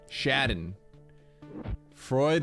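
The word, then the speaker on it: Schadenfreude: I say shoden like John Madden. Shadden Freud like droid. Everyone else is criminal. Shaden Freud.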